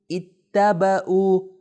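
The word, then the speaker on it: اتَّبَعُوا: تلفظ صحیح کیجئے. دیکھیں ای پہلے کیا ہے یہاں پہ؟ کسرہ. ای ت ب او. دیکھیں ای ت ب او. اتبعوا. اتبعوا یعنی انہوں نے پیروی کی.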